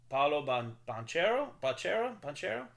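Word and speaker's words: Paolo Banchero: Kansas was Duke and Kentucky, and it was Paulo Banchero.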